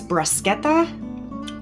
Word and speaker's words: bruschetta: I think the proper way to say it is bruschetta. All right, bruschetta.